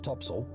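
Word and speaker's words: topsail: the four course four Top Sail pronounced topsel and four top Gallant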